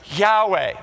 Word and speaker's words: Yahweh: But later on, scholarship understood that really the best guess is that the right pronunciation of those four consonants, Y-H-W-H, this is God's name, Yahweh.